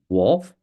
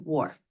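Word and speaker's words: Whorf: influences thought okay and Benjamin Lee wolf that's correct it's pronounced Benjamin Lee Warf you got it who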